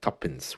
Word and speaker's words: tuppence: 2 pence worth, my tuppence worth, as we say. We pronounce it as tuppence because that's the old English way of saying 2 pence.